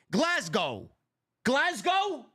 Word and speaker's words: Glasgow: at the castle in Glasgow Scotland Glasgow am I pronouncing it right the S is pronounced as a z glasgo glasgo Scotland clash of the